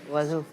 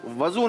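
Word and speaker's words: وضو: वजू। नमाज की कुंजी वजू। आपने फिर कहा वजू। वजू नहीं होता भाई, वुजू होता है।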